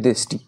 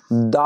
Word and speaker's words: the: হওয়া দেশের নামের আগে দা আর্টিকেল বসেছে কি বসেছে দা যেহেতু এখানে ইউ টা ভাবেল দিয়ে শুরু হয়েছে তাহলে এখানে দা উচ্চারণ করবো না এখানে উচ্চারণ করব দি তাহলে ইউ কে এখানে